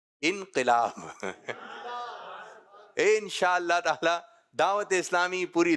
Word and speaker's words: انقلاب: تو کچھ لوگوں کا کہنا ہوتا ہے کیا آئے گا؟ انقلاب آئے گا. اور کچھ لوگ کہہ رہے ہیں انقلاب آئے گا. تو درست تلفظ ہے انقلاب.